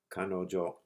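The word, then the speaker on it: かのじょ: First, the two little apostrophes make she sound like ji. Then the small yo tacked on at the end turns ji into jo. The jo sound is a single beat.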